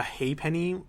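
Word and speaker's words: ha'penny: two hey pennies um now a hay penny so it's not spelled the way you think it is it's h a apostrophe so it's like the it's like a weird way of saying a half penny they pronounce it hey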